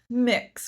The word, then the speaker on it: MX: you have your fragrance it's stylized as MX, I think pronounced Mux. Is that right? Mix or The mux, yeah. I say mix, mix, yeah.